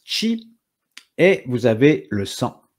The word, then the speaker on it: qi: vous allez avoir l'énergie qu'on appelle le chi alors ça s'écrit QI mais ça se prononce Chi et vous avez le